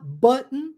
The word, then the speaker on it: button: Quando nós falamos button em inglês, o certo é omitir o T. Então você vai falar button mesmo. Você não vai pronunciar o T.